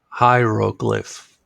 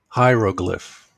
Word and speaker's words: hieroglyph: lot of consonants together let's start from the end to make it easy to say glyph glyph row glyph row glyph hieroglyph hieroglyph so what is a hieroglyph